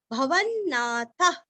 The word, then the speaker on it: भवन्नाथ: प्रभुः भूत भूदीर्घ भव्य भवन्नाथ आगे विसर्ग का उच्चारण हल्का सा प लेंगे और भवन्नाथ का ना का भी दो न का उच्चारण अच्छे से करना है।